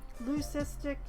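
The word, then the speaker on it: leucistic: Lucistic is pronounced lucistic.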